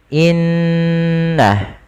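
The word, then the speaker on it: إِنَّ: Cara membacanya yaitu menahan suara ghunahnya dan menahan suara nnya sepanjang dua harakat baru dilepaskan. seperti apa? Seperti ini. Innah tidak langsung dilepaskan secara langsung innalladzi karena dia bacaan guna yang harus ditahan.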